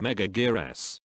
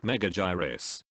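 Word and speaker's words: Megaguirus: Mega Gear S and yes it's pronounced Mega Gear S here's proof Mega Heroes it's not Mega gyrus James Rolf you illiterate Godzilla vs Mega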